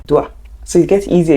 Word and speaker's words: doit: Doit. So it gets easier. You're saying doit, doit, like D-W-A.